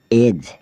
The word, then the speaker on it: edge: फिर हम चलते हैं डी अल्फ़ाबेट की ओर जिसमें डी साइलेंट रहता है। BRIDGE ब्रिज, ब्रिज मतलब पुल। EDGE एज, एज मतलब किनारा।